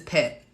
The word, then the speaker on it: Pét Nat: So the reason why I love Pét Nats, I never say it right. I always say Pét Nats and it's pet. It's like a pet, like you pet.